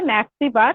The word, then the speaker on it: ন্যাৎসিবাদ: প্রোনাউন্সিয়েশনটা ন্যাৎসিবাদ আর ইংলিশে হচ্ছে নাজিজম, ওকে?